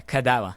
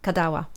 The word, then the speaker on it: Kadawa: How do you pronounce it? Yeah, KADAWA. KADAWA.